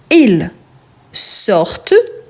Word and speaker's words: sortent: Ils sortent, ils partent. Ici, ce que je prononce, c'est le T à la fin.